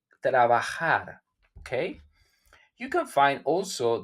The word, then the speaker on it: trabajar: The J, it don't sound like J in Spanish. It sounds like trabajar.